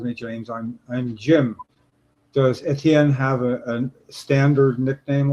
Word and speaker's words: Etienne: So yeah, most people they pronounce it like the letters ATN.